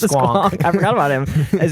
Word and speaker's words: squonk: But in the depths of the swank. The squonk. It's pronounced squonk.